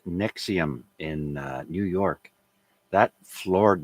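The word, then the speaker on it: NXIVM: trafficking in relation to a sex cult called nexium in new york that floored me when i heard that and nexium is spelled n x i v m uh november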